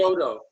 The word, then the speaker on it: Chiodo: Yeah, because it's spelled like Choido or something. Chiodo. Chiodo. There you go.